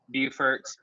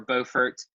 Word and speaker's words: Beaufort: Spartanburg Orangeburg Greenville Columbia Beaufort or Beaufort Hertz pronounced both ways and Aiken we see